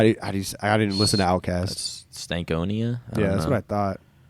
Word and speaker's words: Stankonia: That's Stankonia?